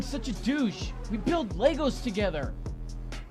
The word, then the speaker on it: Lego: We build Legos together. The plural is pronounced Lego.